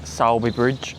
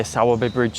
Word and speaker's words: Sowerby Bridge: The town itself is actually called Si Bridge. I think I'm pronouncing that right. The map location will be up on the screen now. Anyway, so I say Saabby Bridge.